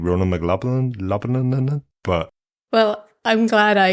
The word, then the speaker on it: McLaughlin: those tech bits, I am joined by Ronan McLaughlin.